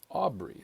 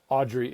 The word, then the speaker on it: Aubrey: So, well, technically my first name is Aubrey. That's a family name. Oh, really? So, I was always I get Audrey and uh so yeah, I think a product of art school.